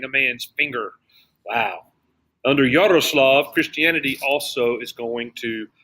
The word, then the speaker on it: Yaroslav: Yaroslav. You got to roll the R. Roll your R. Yaroslav.